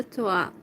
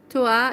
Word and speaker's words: toi: Je suis de folle de toi. Toi is like your. Toi. It's written as T-O-I, toi. But the I is pronounced like a sound or something in French.